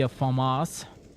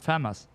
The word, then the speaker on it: FAMAS: All depending on Joste with the AWP and Ninlex with the FAMAS. It's actually pronounced FAMAS. FAMAS. Really? Yeah. Not famous. No, that's I would say it's the Swedish way of saying it.